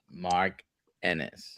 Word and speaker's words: Mark Ennis: Joining us all the way from Ireland, please welcome the founder, the founder of Fitness Beyond Time, Mark Enis. Am I pronouncing that correctly, Mark?